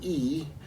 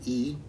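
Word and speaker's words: 易: Then changing, yi, there are two words in Chinese pronounced the same way, fourth tone, yi.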